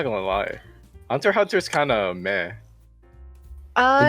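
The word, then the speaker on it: Hunter × Hunter: want to be cancelled because it's hunter hunter don't say the x that's like the taboo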